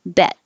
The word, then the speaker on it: bet: is more closed and the vowel is a little shorter because the last consonant in the word is t is voiceless there's no vibration in the throat so the vowel gets a little shorter bet so if you said